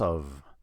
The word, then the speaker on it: of: the process of taking now we have of a spelled with an F the f is a reliable letter if something's spelled with an F you have to make an F sound that's um this is the only exception I know of the word of you have to make a v sound here that's the